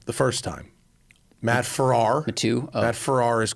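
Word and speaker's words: Farah: it's spelled like this it's pronounced like this like like Farrah Fawcett okay no response in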